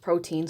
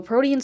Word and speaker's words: Protean: I'm very positive it's not pronounced protein swords. That would be very weird. So Protean Swords, it's a 3-hit AoE magic bravery followed by a single target HP attack.